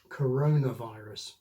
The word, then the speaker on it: coronavirus: Nonetheless if you use this word in English it'll always sound correct if you use the normal compound stress, CORONAvirus.